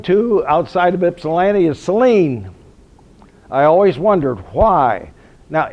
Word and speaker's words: Saline: now we're coming to outside of Ypsilanti is Celine I always wondered why now if you did not know that was a city's name but you saw the word s-a-l-i-n-e how would you pronounce it Saline it's the